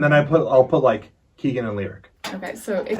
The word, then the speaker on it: Leric: They took the L and all of Eric and combine them to make It's a lyric. lyric. Yeah. So like when people say lyric, which happens all the